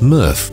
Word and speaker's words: MRF: current material recovery facility mrf pronounced murph in forest road tamworth